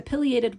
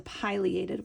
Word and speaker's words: pileated: going to show you how both ways of saying it make sense depending how you divide up the syllables. So if you're wondering about something like the pileated woodpecker or the pileated woodpecker, you can really